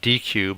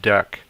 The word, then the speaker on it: deque: what a deck is um it looks like dq but it's actually pronounced deck so deck also known as a double ended